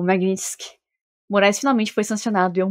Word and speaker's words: Magnitsky: negativas das sanções da lei Magnitisk ou de acordo com a pronúncia americana Magnet Sky para o Alexandre de Morais.